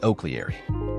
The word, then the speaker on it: O'Clery: The nearest English pronunciation would be Oakleary.